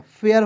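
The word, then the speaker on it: fair: F का फ लिख दीजिए, AIR का उच्चारण ईयर के रूप में कर लीजिए, क्या हो गया, फेयर हो गया।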